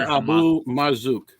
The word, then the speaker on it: Abu Marzouk: Moshe Abu Marzouk, a senior Abu Marzouk.